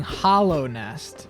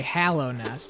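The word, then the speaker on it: Hallownest: they say it because I've been saying Hollow Nest, but then I heard them say Hallow Nest, which makes sense because it is with an A, but I thought it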